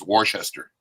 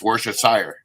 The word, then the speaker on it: Worcestershire: Was Worcester. I used to always say Worcester, and it's Worcestershire.